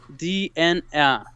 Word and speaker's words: Dena: Dena is pronounced as DNA. Oh, DNA, like DNA genetics, DNA.